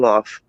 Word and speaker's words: wharf: out there in Massachusetts they call it a WAF. I call it a pier. No, they call it a WAF. No, it's a pier. No, And it's a long wharf.